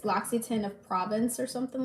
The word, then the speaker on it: L'Occitane: Like, it's harder to say because it's French, and so I had